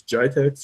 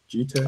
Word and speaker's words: GITEX: From there, we moved into BlackBerry Motion, which was announced at, I always forget how to pronounce this, GITEX or GTEX? Oh, yeah, I think GITEX in Dubai. GITEX, yeah.